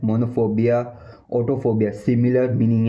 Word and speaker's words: monophobia: पहला जो है अकेले होने, अकेलेपन का डर, अकेलेपन, अकेलेपन का डर मतलब मोनोफोबिया मोनोफोबिया मोनोफोबिया मोनोफोबिया मोनोफोबिया।